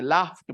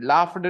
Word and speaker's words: laughed: लेकिन अभी जान लीजिए लाफ्ट बोलते हैं, लाफ्ट ट बोलते हैं, लाफ्ड नहीं बोलेंगे, लाफ्ट बोलेंगे, ठीक है। क्या बोलेंगे बच्चों? लाफ्ट बोलेंगे, फ ट बोलेंगे, ड नहीं बोलेंगे।